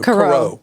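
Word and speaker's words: Karau: K-A-R-A-U. Caro. That would be Caro.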